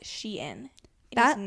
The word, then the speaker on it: Shein: For those of you who are uncultured, it is Shein because it used to be called She Inside and then they shortened it. So now it's Shein.